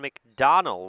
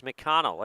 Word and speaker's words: McConnell: on my score sheet I wrote down mcdonal with a d so I've been pronouncing it that way the entire game it is McConnell if I if I